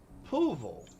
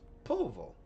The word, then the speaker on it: Poolville: Because we have a place out here called Poovel. But it is spelt pool, like in swimming pool. But of course the way it's pronounced is Poovel. And it's Poolville when you spell it. But for some reason people have this way of just kind of cramming it all together.